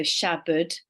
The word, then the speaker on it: Shabad: becomes our teacher and if you break down the word shabd sha just means ego and Bud which is spelled bad but Bud so Shabad the bud means to